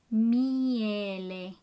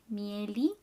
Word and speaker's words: Miele: Make sure you pronounce all the vowels in this word. Miele. And don't pronounce li, mieli, miele.